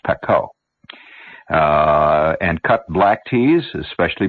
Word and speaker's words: Pekoe: It's not pronounced Pico, you know, it's Pekoe.